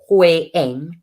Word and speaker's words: Holian: The second home just to be a Bologna castle in County Galway, and Holian pronounced Hoyen, flew to Poland to pick up a group of 11 refugees, some from Mariupol and others from Dnipro.